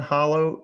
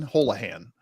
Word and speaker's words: Holahan: edition this is Don Hollow did I say it right Holan Dan Dan Dan holahan holahan okay oh it's aan like holahan Auto holahan holahan so